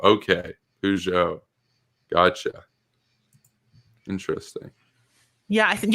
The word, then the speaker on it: Peugeot: but oh peugeot okay peugeot gotcha interesting yeah i think yeah they're saying it's only in the uk that's pronounced peugeot okay yeah i guess we're trying too hard to make it sound french someone's also pointed out